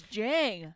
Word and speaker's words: Zhang: his last name that's that's literally how it's like pronounced you uncultured swine it's jang no no anyways why